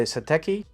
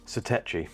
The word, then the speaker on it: Satechi: So this is a battery by Satechi. How do you pronounce it? Satechi.